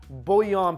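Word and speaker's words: bouillon: I love using chicken bullion, someone corrected my pronunciation, bullion powder.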